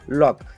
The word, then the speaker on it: lock: जैसे यहाँ पे देखेंगे आप LOCK, के पहले कौन आया? सी। तो हमने इसका प्रोनाउंसिएशन क्या होता है? लॉक। क्या होता है? लॉक। हम इसको LOCK को क्या बोलेंगे? लॉक। बिल्कुल सी का प्रोनाउंसिएशन करेंगे नहीं।